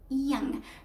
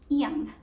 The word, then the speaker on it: young: is why we say jung or jung, etc. But no jung, no jung, no nothing like that. We have to say young, because a Y in English becomes an E sound. So young.